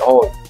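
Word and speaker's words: hoy: Partido del O ndio ambayo inatamkwa O inaandikwa hy O lakini kispanyola neno loanza na H ndio Huwaga inamezwa kwa sababu inatamkwa kwenye J ndio hii inose one ndio kwa hiyo ikishatangulia H inabezwa ndio inakuwa O ndio maana Hakuna Hernandez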